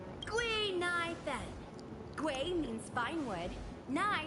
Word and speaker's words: Gui Nai Fen: is Guinevere, but a Xianzhou friend came up with an authentic Xianzhou name based on the pronunciation. Gui Nai Fen.